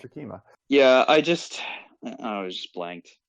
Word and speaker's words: Akima: Is it Akira? Yeah, or Akima. Akima. That's it. It's like been Akira, too long. but it's Akima.